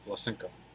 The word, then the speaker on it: Vlasenko: Oh, Vlasenko. Okay. Cool. Thanks. Ko. Got I'm it. pretty sure the stress is on the O.